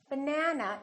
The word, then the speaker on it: banana: For example, if I say the word banana, banana has 3 syllables. Let's take a look. So we have banana. This second syllable is stressed. That means this vowel is going to be much longer.